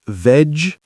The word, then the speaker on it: vegetables: Pronunciation. Oh, yes. That's hard sometimes. Let's practice the word vegetables. Vegetables? Almost. We say veg-ta-bulls.